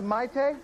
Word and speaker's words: Mayte: it's pronounced mighty this is my Taeyang